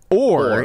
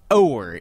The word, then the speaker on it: o'er: That word is not pronounced or, it's pronounced or. It's over without the V.